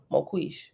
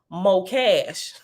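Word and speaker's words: moqesh: trap and oh oh I pronounced it wrong both ways and is pronounced more cash m o m o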